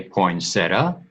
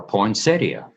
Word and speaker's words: poinsettia: do you say it do you say poinsettia or poinsettia actually they're both correct poinsettia is a euphorbia